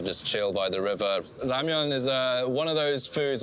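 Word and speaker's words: 라면: I would call this ramen. Ramen is more of a Japanese pronunciation. In Korea, it's more ramyeon. So think of it with a Y in between the M and the E-O-N.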